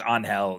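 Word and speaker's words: Ángel: Is it Anell, right? What is I think it's Anhell. Yes, is how you correctly pronounce it.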